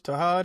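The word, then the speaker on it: Tahaad: Tahad it is. Tahad, Yeah, I don't want to Tahad. get that man's name wrong.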